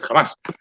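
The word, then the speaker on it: Hamas: Ahora que está tan de moda el grupo terrorista este jamás. Ahí la H en español no se pronuncia, sin embargo sí se pronuncia porque es un extranjerismo.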